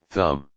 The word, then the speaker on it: thumb: B is silent in lamb, climb, thumb.